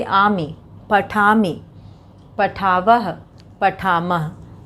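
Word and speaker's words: पठामि: आमी उच्चारण अंत में इसका आ रहा है, उच्चारण पर ध्यान देना है। पठामी, लिखामी, और धाव से धावामी। केवल अंतिम उच्चारण एक जैसा रहेगा, शुरू का शब्द बदल जाएगा। यहाँ पे मूल धातु है और उसमें आमी उच्चारण आ रहा है।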